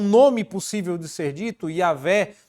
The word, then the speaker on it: Yahvé: de ser dito, Yahvé, que a gente não sabe se essa era a pronúncia, porque eles não, depois de um tempo, os judeus não pronunciavam mais o nome sagrado, mas sim uma versão desse nome que, a depender das vogais utilizadas, podia soar como Jeová ou Yahvé.